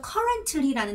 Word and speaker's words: currently: 그리고 여기 보니까 currently라는 단어를 어려워하시는데요. 맞아요. currently도 사실 T 발음을 하지 않아요.